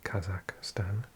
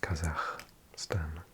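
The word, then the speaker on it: Kazakhstan: Lots of pronounce lots of people pronounce it Kazak Stan, but it's actually pronounced Kazak Stan.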